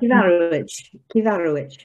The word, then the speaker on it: Cyfarwydd: Cyfarwydd. Cyfarwydd, yeah, with a K sound, it meaning storyteller.